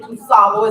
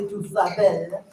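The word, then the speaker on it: DuSable: I know a lot of you pronounce it Dusabo. It's actually Dusabel.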